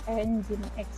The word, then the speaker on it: Nginx: Jadi jangan salah baca, jangan dibaca Nging, ini bacanya adalah Nginx.